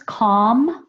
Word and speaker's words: calm: And then you have L-M words, calm, I don't pronounce the L, so calm is just K-A-U-M.